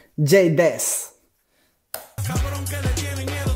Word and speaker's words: J-Dez: Todo este poco es J-Dez. Así se pronuncia. J-Dez.